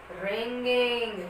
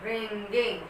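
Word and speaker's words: wringing: Ringing. Here the word letter W will be silent. So the spelling will be W-R-I-N-G-I-N-G. Ringing. Okay. So while pronunciating this word, the W will be silent here.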